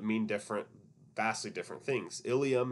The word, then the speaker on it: ilium: Ilium and ileum, they both sound exactly the same.